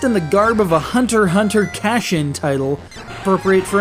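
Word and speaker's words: Hunter × Hunter: bit harsh though because Hunter Hunter plays very much like those Castlevania titles of old just with a bit more RPG isness Hunter Hunter the x is silent apparently has been running in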